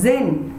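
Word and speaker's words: djinn: इसमें हम देखो डी से स्टार्ट है, यूँ तो डजिन लगता है, बट प्रोनाउंस जिन, इसको जो है हमने जिन के रूप में प्रोनाउंस करना है, इसका उच्चारण करना है।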